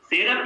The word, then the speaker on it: cherub: सेरब एक टाइप का एंजल होता है, CHERUB। इसको चेरब सेरब जैसा भी प्रोनाउंसिएट करना है आप लोग कर सकते हैं।